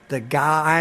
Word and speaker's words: Zugai: in on YouTube Zugai, Zugai, and it's pronounced the guy. I'm the guy at the zoo, the zoo guy.